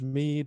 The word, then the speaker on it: Meade: I was saying Meade, but it's Meade.